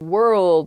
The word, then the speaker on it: world: World, world, hard to pronounce. That RLD, I think, together is tough. Plus that W at the beginning as well.